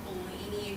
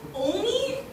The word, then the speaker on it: Olney: And he said he was from Blaney, Maryland. That's adorable. That's not right. Oh, what is it? Did they tell you pronunciation? No, Allie, you don't know Olney?